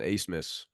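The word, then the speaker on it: Abmas: a what a miss the the B and the m is silent Ace miss a oh I don't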